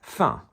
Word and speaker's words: fin: They're all pronounced fin, F-I-N, not fin, which would be F-I-N-E.